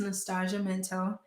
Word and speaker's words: Nastashia Minto: So it's Nastashia Minto. And my book is at Eldritch Books. It's like the Thai, but spelled with an E.